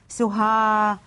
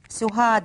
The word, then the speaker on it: سهاد: سهاد سهاد سهاد سهاد ماذا انطق في نهايه الكلمه حتى تصبح الكلمه الاسم كامل سهاد سهاد سهاد عفيه انطق حرف الدال عفيه احسنتم اعزائي التلاميذ